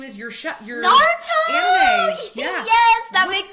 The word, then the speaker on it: Naruto: So, Naruto, or if you're going to say it with the correct pronunciation, I believe is Naruto. You kind of, like, trill the R a little bit.